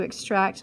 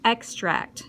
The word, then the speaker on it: extract: the dentist's decided to extract my decayed tooth noun something drawn out of a natural substance often used for flavoring and that's an extract so you emphasize a different syllable I like to add